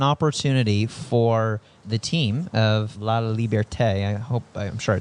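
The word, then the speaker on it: Laliberté: You talk about the founding of Cir Sole and how this was an opportunity for the team of La Liberte. I hope I'm sure I didn't pronounce that right.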